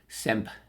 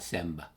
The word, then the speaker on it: Semb: Produced by Ollie Ovstendal, Emil Moen, and Per Semp. I think it's pronounced Sem, not Semb. I think the B might be silent, but I could be wrong.